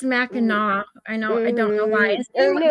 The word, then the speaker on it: Mackinac: I think my and the parents pronounced it Mackinac. yeah, it's Mackinac.